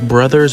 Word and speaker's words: Bros.: I say bros, like it's spelled. I know you're technically probably supposed to pronounce it as brothers, but I've always said bros.